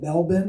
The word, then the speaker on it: Melbourne: And tomorrow I go to Melbourne. Is that how I pronounce it? So the R is fake. It doesn't actually exist. Okay, so I'm going to Melbourne tomorrow.